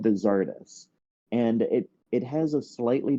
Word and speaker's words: Czardus: And so then we have this name of Czardus, which a lot of people from Eastern Europe say that I should be pronouncing it like Chartus.